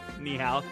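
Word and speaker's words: 你好: Neho. Ni hao.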